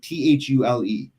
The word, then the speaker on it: Thule: pronounce this company's name t-h-u-l-e how would you pronounce that thule is that how it is yeah absolutely the rap company i got one of their lottery it's thule oh julie yeah so i